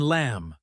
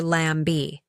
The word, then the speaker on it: lamb: English has many silent letters like the K in no or the B in lamb. Yes, beginners often say K now or lamb B. But in English, we do not pronounce those silent letters.